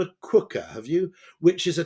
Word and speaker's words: Quooker: It's spelt Quooker, as in cooker with a QU.